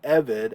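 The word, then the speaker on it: עֶבֶד: This has to do with the fact that Eved, as a segulate, is often accented on the first syllable, and so when you've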